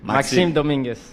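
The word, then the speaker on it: Maxime Dominguez: Se é Maxime, qual é a pronúncia? Maxime Domingues.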